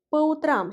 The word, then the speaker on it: по утрам: Faites attention au changement de la place de l'accent tonique. On dit утром, l'accent tonique frappe la première. Voyez le ou, alors que по утрам, l'accent tonique frappe la dernière. Voyez le a.